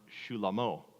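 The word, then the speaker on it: Shlomo: And in the original language, Solomon's name would have been pronounced Shulamo.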